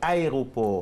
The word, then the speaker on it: aéroport: Aéroport, c'est aéroport. Aéroport. Comme aérosol.